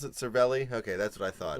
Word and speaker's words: Cervelli: Is that how you pronounce it? Cervelli?